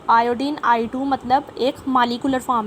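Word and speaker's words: molecular: अच्छा, मालिकुलर भी मैं पहले भी आपको बताती थी, मालिकुलर भी प्रोनाउंसिएशन होती है, लेकिन इसका ज़्यादा बेहतर एक्सेंट जो होता है, जो ज़्यादा हायर लेवल्स पे यूज़ होता है, वो मोलेकुलर होता है।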